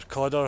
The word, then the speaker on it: Cadder: Okay, we've just turned off the canal at Cadder or Codder. You say tomato, I say tomato.